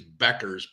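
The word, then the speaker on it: Bueckers: this year's Caitlyn Clark it's Paige Bookers buckers Bookers not sure how they pronounce it I call it uh Bookers I could be completely wrong um doesn't matter how you pronounce her name as long as you can make money with it uh actually I think it's Beckers paage Beckers is how that I believe is the correct pronunciation so I'll do that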